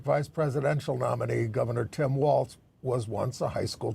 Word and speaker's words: Walz: Now, it's my understanding that his name is pronounced Walz. Walz, didn't I say Walz? You sort of said Waltz, I think. No, I'm saying it's Walz. It is Walz.